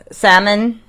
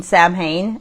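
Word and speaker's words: Samhain: Uh, salmon. I mean Sam Hayne. Sam, how do you say it again? S A M H A I N. Not salmon like the fish, but Sam Sam, I don't And you.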